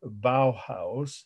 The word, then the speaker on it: Bauhaus: the five main movements of early modern architecture bauhaus that's the german word where the style was